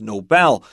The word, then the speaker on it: Nobel: And of course the correct pronunciation is Nobel.